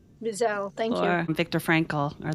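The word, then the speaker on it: Wiesel: Eli Visel. Visel.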